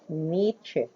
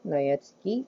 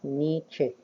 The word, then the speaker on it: Nietzsche: In German, we pronounce his name as Nietzsche. Friedrich Wilhelm Nietzsche. It's not Nietzsche, it's Nietzsche.